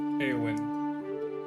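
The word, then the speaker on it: Eawyn: Her name, how do you pronounce it? E A W Y N. Oh, Awen. Awin.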